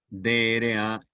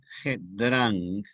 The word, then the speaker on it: Drang: Y la conjunción ilativa en español, Drang, finalizado en G, D-R-A-N-G, Drang, Drang terminado en G.